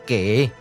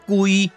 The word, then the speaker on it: 圭: 、下、切、音讀作家，嘛會使讀作歸，閣會使讀作歸。